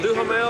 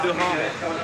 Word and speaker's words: Duhamel: Duhamel or Duhamel?